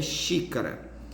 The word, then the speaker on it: xícara: E nós temos também outra aqui, né, que é xícara. O xi é a pronúncia mais forte, é a antepenúltima sílaba, então é uma palavra proparoxítona e precisa ser acentuada.